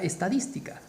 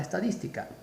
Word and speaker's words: estadística: Por ejemplo, tenemos la palabra estadística. Estadística. ¿Cómo se separa estadística? Estadística. Última sílaba, penúltima sílaba, antepenúltima sílaba. Mayor fuerza de voz, acá, en dis, estadística.